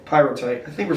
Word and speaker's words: Pyrrhotite: Is it the quarry who did they have knowledge that they were selling, aggregate that had pyrrhotite in it?